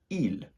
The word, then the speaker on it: ils: Okay, first of all, we have the masculine form, which is il. Il. Again, not pronouncing the S unless the following word begins with a vowel.